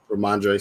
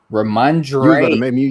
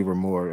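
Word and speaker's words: Rhamondre: So I would definitely target more Remark and how you pronounce his name? Ramondre Stevenson. Ramondre. You was about to make me say Ramor.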